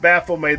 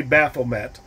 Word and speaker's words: Baphomet: Yeah, it's pronounced Baphomet. The T is silent. Most people say Baphomet.